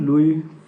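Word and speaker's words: Louis: इसका pronunciation लुइस मत करिएगा, लिखा हुआ है लेकिन इसका प्रोनाउंसिएशन लुई होगा।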